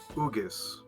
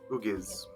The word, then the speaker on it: Ugis: And you pronounce the last name incorrectly, like most do. It's Ugis. Ugis. Ugis.